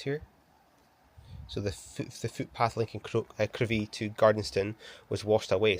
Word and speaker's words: Crovie: So we have made it to Crovie, or it's actually pronounced Crivie, is according to this.